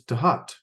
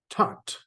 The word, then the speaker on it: Thoth: just pronounced differently, because when you look up the pronunciation of Thoth, it is Tahat or Tot.